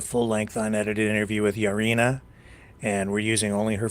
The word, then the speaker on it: Yaryna: much for having me here my name is yarina uh yarina in Ukrainian but um I'm 25